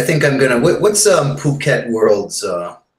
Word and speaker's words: Phuket: to hear you guys pronounce it properly it is Phuket yeah yeah I really